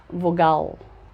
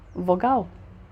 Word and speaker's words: vogal: embora termina em vogal com l você não pronuncia vogal se pronuncia vogal sol a gente troca o l por um certo e em inglês acontece